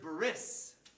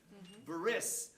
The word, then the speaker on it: bris: to Jewish people today you will hear the word bris Buress that's how it's pronounced in in American English you know vowel or